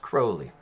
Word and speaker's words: Crowley: he's usually called alistair crowley but it's actually pronounced crowley not that that matters he was the most